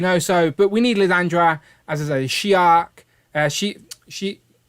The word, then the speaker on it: Lilandra: So, but we need Lilandra as a Shi'ar. She say it properly for me, Rich. I'll get it wrong. The Shi'ar Empress. Yes, Lilandra.